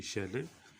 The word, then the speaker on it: Shelley: पैसी बैशी शैले has written the poem ओzymandias। पैसी बैशी शैले, शीले भी इसको कहा जाता है। दोनों तरीक़ों से आप इसको डियर स्टूडेंट्स प्रोनाउंस कर सकते हैं, शैले और शीले।